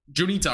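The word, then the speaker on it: Juniata: to the southeast south southeast yeah um junita okay that's how you say it yeah junita will probably see storms or johnny that area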